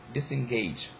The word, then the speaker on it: disengage: Then we have got disengage. The primary stress falls on the last syllables of the stem. However, the prefix receives secondary stress.